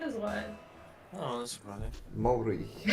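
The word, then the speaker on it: Māori: It's pronounced Maori. Maori. Maori. You gotta Maori. roll your R with it, but you don't have to talk like that.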